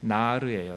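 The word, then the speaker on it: נער: 우선 아이들이라는 단어 네아림이라는 말인데요, 원래 단수로 하면 나르예요. 나르를 복수형이 되면 히브리어는 뒤에 임이 붙거든요. 그래서 앞 발음이 약해지면서 네아림 된 거예요.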